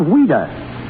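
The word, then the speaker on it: Ouida: why did she use the pen name of weda because of the child that was the way she pronounced Louise she was a strange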